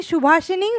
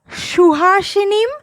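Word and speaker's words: सुहासिनीम्: Okay, but few of you making it mistake two times you are saying Shubhashinim, Sumadhura Bhashinim. No, it's not like that. The correct pronunciation is Shuhashinim, Sumadhura Bhashinim, Sukhadang Varadang Mataram Vande Mataram Vande Mataram.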